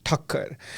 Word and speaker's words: Thakker: guys I'm uh my last name is pronounced as Tucker and uh that's 2ks